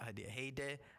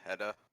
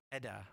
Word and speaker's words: Hadia: also welcome hadia Hey not had he I I can't tell me how to pronounce it's a Heda Heda okay cool I call